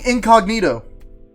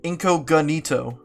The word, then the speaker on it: incognito: couldn't figure that out I've been pronouncing it inco ganito I thought that was a do inconito yeah it's a funny it's Incognito God God damn it